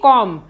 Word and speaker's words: comb: जैसे BOMB, इसको हम पढ़ेंगे बॉम्ब, इसमें BM के बाद आया है तो यहाँ पर बी साइलेंट हो गया है। एक अन्य उदाहरण है यहाँ पर COMB, कॉम, यहाँ पर भी BM के बाद आया है